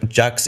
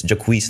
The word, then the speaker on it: Jacquees: will say them also my name isn't Jax it's Jacquees that's how you pronounce it oh I think